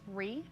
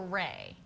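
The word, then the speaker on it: Rhee: I think it's Ree. Ree? Anyway, Ree's watching. Apologize if we're mispronouncing your name. Ree or Ray?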